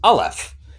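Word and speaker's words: Aleph: Henry's referring to it it's literally capital L capital F okay so by the way you're pronouncing it yeah until uh until Gentry explains it and then it's alef uh which is a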